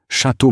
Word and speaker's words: Château: Besides, it is pronounced Château Margaux. The T at the end of Château is silent, as is the X at the end of Margaux. This is basic.